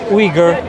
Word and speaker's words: Uyghur: Uyghur. Yeah. Some people pronounce it Uyghur. I just go with the Uyghur.